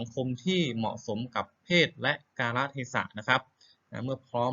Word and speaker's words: กาลเทศะ: แดง นะ ครับ อ่า อ่าน ว่า กาละเทศะ นะ ครับ คือ ก ไก่ สระ อา ลอ ลิง สระ เอ ทอ ทหาร สอ สา ลา สะ นะ ครับ อ่าน ให้ ถูก นะ ครับ กา ละ เทศะ